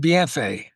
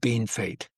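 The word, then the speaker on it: Bienfait: It's called BFA. The French word. But but the the the people in Saskatchewan, they just always called it Bean Fate. They couldn't pronounce the French.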